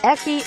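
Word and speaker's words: エッチ: slang has ekki because hentai's acronym h can only be pronounced eki by the japanese yet japanese people really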